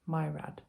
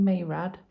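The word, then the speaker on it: Maerad: of the names so mayrad myrad i was saying mayrad and the narrator saying my rad so not overly did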